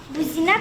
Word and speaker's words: бузина: На третий слог падает ударение.